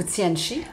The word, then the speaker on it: Tianchi: Ben, écoute, moi je le prononce Tianchi, mais en réalité il y a un S. Des gens le prononcent plus en S, mais je trouve que ça fait plus cute, Tianchi.